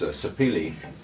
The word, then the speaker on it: sapele: I thought I might edge with some of this sapele here, which I've got quite a few scraps. I had to look up the pronunciation of that.